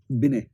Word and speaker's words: Binet: उसका नाम है एल्फ्रेड बिने। BINET है। अब इसको बिनेट कहेंगे कि बिने कहेंगे पता नहीं, क्योंकि टी कई बार साइलेंट हो जाता है, तो मैंने हिंदी में एल्फ्रेड बिने ही पढ़ा है कहीं कहीं।